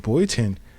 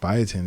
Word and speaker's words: biotin: this is in in bootin biotin I'm said it wrong bio biotin is in um tons